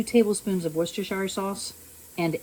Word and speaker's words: Worcestershire: And then I'm also going to add 2 tablespoons of Worcestershire sauce and 8 drops of Texas Pete or Cholula.